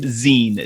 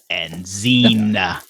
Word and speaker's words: zine: According to the Bindery website, zine is a noun pronounced zine, Z-E-E-N, zine.